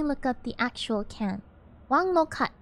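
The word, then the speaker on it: 王老吉: Sorry, Wang Lao Ji is a Mandarin pronunciation because Monkey's not very good at Cantonese, but it's actually a Cantonese drink, so Wang Lo Kat is probably a better way to pronounce it.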